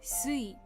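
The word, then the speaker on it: 水: The kun'yomi, kun'yomi for mizu is mizu.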